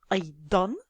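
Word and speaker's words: أيضاً: Et à la fin, je retrouve le tanwin de la fatha, c'est-à-dire qu'à l'oral, je prononce A, puis N, aydan.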